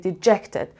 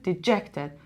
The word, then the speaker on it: dejected: For example, so دقت کنین dejected. The da کجا استرسه؟ Dejected. Dejected. Da کجا میره بالا؟ اینجا. این هم که one syllable, no stress.